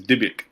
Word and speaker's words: Dybbuk: I'm terrible at pronunciation. Sarah solved it for us. You said it. It was Dybbuk.